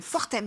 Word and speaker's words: Fortems: Fortems, je ne sais pas si on dit le S. On dit le S, ouais, Fortems. Fortems. On prononce toutes les lettres. On n'en laisse pas une de côté.